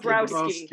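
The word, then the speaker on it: Dąbrowski: Oh, Dombrowski, Dabrowski. Dabrowski, as it's written.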